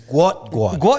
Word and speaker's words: Gout: But Oh, gout. Gout. It's Gu. Gu. There you go. So, let's just see moving forward if if uh people take Wait, is it is it Gu or is it just